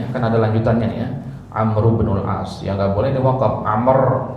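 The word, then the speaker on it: عمرو بن العاص: kita temukan gitu ya yang benar pengucapan nama sahabat itu adalah digabung Amru bnul as Amru bnul As hanya saja sering kita dengarnya apa Amr Ibnul As ya untuk memudahkan aja Amr Ibnul As atau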